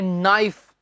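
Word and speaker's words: knife: जो शब्द के एन से स्टार्ट होते हैं अक्सर उनमें हम के को प्रोनाउंस नहीं करते। कुछ शब्द तो आपको आते हैं स्टूडेंट्स, जैसे कि नाइफ का नाइफ नहीं कहना, क्या है नाइफ, चाकू हो गया।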